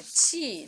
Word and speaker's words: qi: Tai Chi, or Qigong, that pronounced as in a Qi, that's actually a Chinese modality.